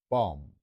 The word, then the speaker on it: bomb: 所以呢個字咧就係 bomb，就唔使理個 B 嘅。